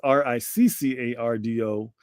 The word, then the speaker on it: Riccardo: So it is Riccardo. And that's Rick, not Rice, not Rico, not Ricky.